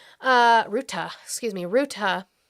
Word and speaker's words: Rutte: with uh Secretary General Rutte uh Ruta, excuse me, Ruta. It's spelled like it would be Rutte or Root.